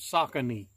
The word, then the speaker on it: Saucony: the YouTube I mean the Google says you pronounces saucony so you know anything